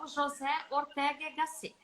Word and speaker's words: José Ortega y Gasset: Eu separei aqui, gente, é uma fala de um filósofo espanhol muito famoso, chamado, eu não vou falar a pronúncia espanhola, aportuguesado, José Ortega y Gasset, tá?